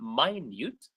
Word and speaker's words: minute: So we have small, minute, notice the pronunciation, minute, little, tiny, whatever.